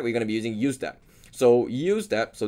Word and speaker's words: useDApp: going to be using usedap so use that so this is pronounced as usc use and then dab decentralized app so we're going to be using usdap but i have another